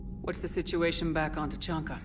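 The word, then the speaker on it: Tuchanka: What's the situation back on T'Chanka? T'Chanka, that's how you pronounce it.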